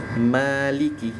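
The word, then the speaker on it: مَالِكِ: jangan ma Maliki Ma ingat kalau huruf tipis rahangnya pakai rahang tipis dimundurin ma ma lii ya terus maanya jangan lebih dari dua harakat saja Maliki Oke Maliki Maliki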